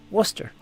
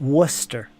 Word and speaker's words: Worcester: this yeah but after living there it's basically pronounced Worcester that's how you say it that's how they all said it Worcester easy as that yeah the the names Paul